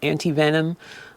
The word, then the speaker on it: antivenom: In most cases, it is antivenom, which, did you know, can also be pronounced antivenin?